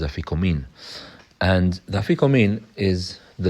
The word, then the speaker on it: Afikoman: Some say Afikoman, some say Afikomen. Our Syrian custom is Afikomin. And the Afikomin is the last food a person eats that night. What's the function of the Afikomin?